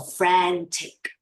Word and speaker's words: frantic: When you move your mouth long in a vertical, in a vertical side like this, your sound sounds like air and R all together. So frantic. Frantic. Frantic. Frantic. Yes, frantic. Frantic. Yes, move your mouth, okay, with the sound of air, but longer in verticals.